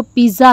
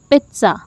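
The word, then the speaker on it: pizza: पिज्ज़ा, इज it right? आप में से कितने लोग इसको पिज्ज़ा ही प्रोनाउंस करते हैं, कमेंट्स में ज़रूर बताइएगा। होपफुली 95% लोग इसको पिज्ज़ा बोलते हैं, जबकि ये वर्ड है पिज्ज़ा। पिज्ज़ा, इसमें जो टी और जेड है उन दोनों की साउंड को हम इमर्ज करके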